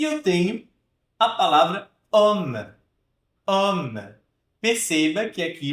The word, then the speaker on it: homme: Não chega a ser um homme, né? Tão aberto. Mas ele é bem mais aberto do que esse O aqui.